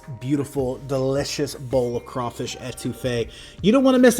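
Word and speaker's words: étouffée: I think that'd be a great discussion after researching and cooking this crawfish etouffee today. Or etouffee, if I'm going to say it properly to my boys down south.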